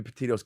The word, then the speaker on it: Petito: Gabby Petito's case. Oh, we got a timeline, baby. Petito, I said it right.